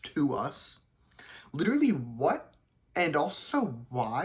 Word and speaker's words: TWS: posting my first video about them that it's pronounced to us literally what and also why like if I